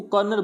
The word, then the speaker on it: colonel: एक अपवाद है, यानी कोलोन यानी COLONEL, यानी इसको कर्नल बोला जाता है, यानी ओ आ रहा